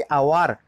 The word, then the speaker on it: hour: Silent हो जाता है, जैसे कि आवार, HOUR, हम उसको कैसा प्रोनाउंसिएट करते हैं, आवार कहते हैं, कोई हावर कहता है क्या? हावर तो कोई नहीं कहता, उसको हम आवार प्रोनाउंसिएशन करते हैं, आवार आवार, मतलब भावल